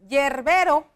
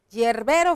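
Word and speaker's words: hierbero: muy común situación está no decimos yerbero yerbero fíjense bien yerbero ni siquiera estoy diciendo no estoy utilizando la g cuando la pronunció voy a escribirlo así yerbero pero cuando yo lo hablo yerbero verdad que no se escucha como si la h no tuviera sonido se escucha así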